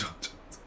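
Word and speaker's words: J'onn J'onzz: His real name is John Jones, which is basically pronounced John Jones.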